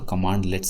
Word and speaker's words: cmdlets: तो कमांडलेट्स जब हम लिखते हैं तो इसको लिखते हैं कि CMDLETS। जब हम पढ़ते हैं, प्रोनाउंस करते हैं, तो ज़बान से जब निकालते हैं तो कमांडलेट्स से हम इस्तेमाल करते हैं।